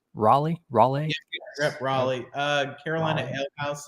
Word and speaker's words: Raleigh: Did I pronounce that right? Raleigh?